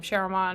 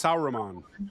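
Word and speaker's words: Sauron: he's not Sher I I forget how you pronounce the name Sheron or whatever he's not s sauran yeah thank you I'm sorry I I just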